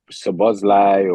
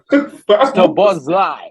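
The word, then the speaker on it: Szoboszlai: No, Sabozlai. Yeah, So I'll say Buzz it Light. again for you, man. In the back. Sounds like Buzz Lightyear, bro. Yeah, bro.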